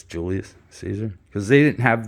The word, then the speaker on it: Julius: don't know why but they pronounced it kind of like a y like a u Julius Julius Julius not